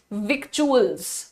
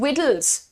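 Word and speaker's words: victuals: का सामान अब आप उसको बोल सकते हैं विक्चुअल्स एक्चुअल्स बोलते हैं तो अब आप क्योंकि मैडम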